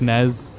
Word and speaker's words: NES: statement that it's pronounced Nez I think it's from old Nez commercial you're supposed to pronounce it Nez definitely from some video